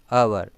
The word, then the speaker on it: hour: In that H is silent. We should not pronounce it as hour. So hour. So particular time is given. Period of time, length of the time is given. So for an hour.